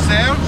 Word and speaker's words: Serge: So we're just taxiing out in this De Havilland Beaver, and we got our bush pilot here, Serge, or Sanj, as it's supposed to be pronounced, and we are about to head out.